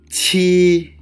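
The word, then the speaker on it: 七: Qi, qi, qi, qi, there is first tone. So we need to pronounce qi.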